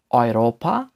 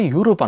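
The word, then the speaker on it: Europa: এর উদাহরণ হচ্ছে অয়রোপা, অয়রোপা। যেটা দেখতে পাচ্ছেন সেটা কিন্তু ইউরোপা নয়, অয়রোপা, অয়রোপা, যার অর্থ হচ্ছে ইউরোপ, ইউরোপ।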